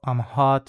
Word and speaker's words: ho: in the present simple, it does have this H that is only graphic because you don't need to pronounce it, it's just muted, muta. So instead of saying io ho, we don't say that, we say io ho.